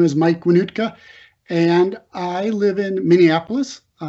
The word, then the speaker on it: Wohnoutka: is david larochelle and it's a lot easier last name to pronounce than mike's name winootka i live in white